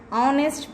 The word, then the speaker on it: honest: We have to pronounce as hour. So like that, an honest person, honest, not honest, honest person, an honorable man.